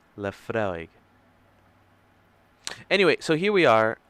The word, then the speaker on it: Laphroaig: imagining love forage evening how do you pronounce that the freud evening in canada laphroaig la fraig anyway so here we